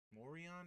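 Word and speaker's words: Morejón: I think it was Mo Morion, Adrian Morion, I think is how they pronounced it.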